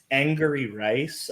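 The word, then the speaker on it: Angourie Rice: Angry Rice, I believe is how you pronounce her name.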